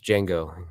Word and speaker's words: Django: what's your name there's Django can you spell it d-j-a-n-g-o the D is silent I know because he's